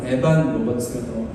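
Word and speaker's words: Evan Roberts: 한국말로는 이반 로버츠라고도 하는데 영어식 정확한 발음은 에반 로버츠가 좀 더 맞는 발음인데요.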